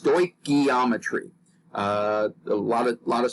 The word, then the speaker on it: stoichiometry: the greek words meaning measuring elements and it's pronounced stoichiometry a lot a lot of students stumble on this pronunciation but just practice it a little bit and you'll get it pretty quickly stoichiometry okay and this is basically the method of